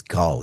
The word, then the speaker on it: Gal: Okay, Martin, let us bring in our good friend Cal. How are you doing today? Actually, I think I mispronounced your name. It's Gal, yeah? Yeah, Gal.